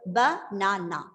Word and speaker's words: banana: So rather than that, when you stress on the second syllable, it will sound like Hessa? Banana. How will the Banana. word? Banana, right? So banana. So the second syllable is said with a louder pitch, a little more elongation of the word, and it might be a bit higher tone. That is how the stress is given.